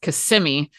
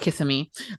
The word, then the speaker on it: Kissimmee: Like, okay, before I go and tell you, hey, Lance, this is going to take place in Florida, it's pronounced Kissimmee, not Kissimmee, or Kissimmee.